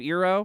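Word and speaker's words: Iroh: a couple of times they say iro instead of ero right or the other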